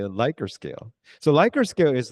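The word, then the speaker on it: Likert: scale yeah oh this lier scale you have to also careful with the pronunciation because many people pronounce as a liquor scale but liquor scare is like your level of your alcohol level if you say my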